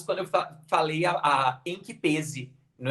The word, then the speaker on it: em que pese: assim como voz também dizem que a pronúncia é fechada com som fechado então é em que pese e não em que